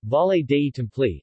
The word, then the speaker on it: Valle dei Templi: the volleyed a template Italian pronunciation valet Dayton flee English valley of the temples Sicilian Vati delete